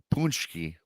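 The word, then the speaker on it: pączki: ask what's the difference between a donut and a punchki. And it's spelled Pacyzki, but it's spelled punchki, I guess.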